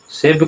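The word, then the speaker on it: शैब्यः: इसके बाद है सेव्य च सेव्य च यहां उच्चारण नहीं होगा। उच्चारण क्या होगा? सेव्यः जोड़ च तब क्या होगा? सेव्य च।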